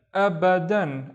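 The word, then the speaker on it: أبداً: The first syllable is just because of the Hamza. And then ba, dan. Abadan.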